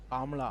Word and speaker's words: Kamala: But okay, I hate saying Kamala. Can I say her name like how a normal Indian person would say her name? Kamala. Her name is Kamala. It's not Kamala.